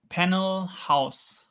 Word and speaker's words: Panel Haus: Panel house. Nice. Okay. Slightly more German. Yeah, it it's it's the German German word. It's very similar to the English one.